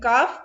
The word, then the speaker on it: calf: Then calf. L is silent.